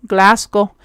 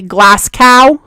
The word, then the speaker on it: Glasgow: Glasgow. I actually have never been to Glasgow. Sometimes, just for funsies, I like to say it like a true American American and say Glas Cow.